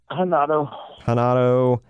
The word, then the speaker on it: Renato: Is it Renato or Henato? Hanato.